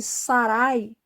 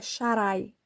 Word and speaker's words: Sharai: Se fosse Sarai, a primeira letra devia ser um Samar, que esse tem som de S, mas não é essa letra que está no nome dela. É o Shin. Então, a pronúncia do nome dela, que eles dizem que é Sarai, não é Sarai, é Sharai.